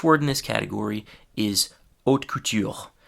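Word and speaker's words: haute couture: The first word in this category is hot cou. That's the French pronunciation. In English, we'd probably just say hot couture.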